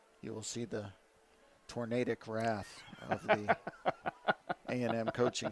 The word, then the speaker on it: tornadic: I did not think tornadic. Or tornadic. Or tornadic, sorry. It is tornadic. We even went with the correct pronunciation.